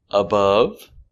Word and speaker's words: above: it's cold very good another example above below above making this short sound uhuh above example there are many